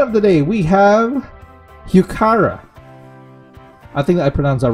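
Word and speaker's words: Heuchera: all right flight of the day we have hukara i think that pronouns are right hukara there you go even though it says e i think it's pronounced as kara tara like cara carro like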